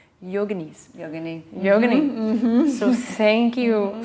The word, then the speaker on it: yogini: I learned recently that the proper way to say yogini is yoga nice yogini yoga so thank